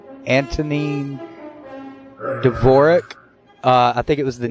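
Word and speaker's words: Dvořák: his name right Antonin Dvorak I think it was the New World Symphony I think yeah what you said on Dvorak four shot there you go for Jacques the D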